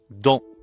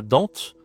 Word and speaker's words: dent: Et le dernier mot, c'est la dent. Pareil, le t on ne dit pas, on ne dit pas dente, on dit la dent.